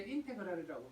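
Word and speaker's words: integral: 그때 더하다의 의미 썸을 길게 늘려서 가지고 S자를 길게 늘려 쓰고 읽을 때는 이제 인테그랄이라고 읽어요.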